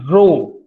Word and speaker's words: rho: and that constant now in this term is rho. It is pronounced as rho.